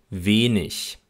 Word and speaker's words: wenig: Zudem spricht man Wörter mit der Endung IG in der Regel auch mit einem Ich-Laut, aber nur, wenn der Buchstabe G auch wirklich am Ende bleibt. Zum Beispiel wenig.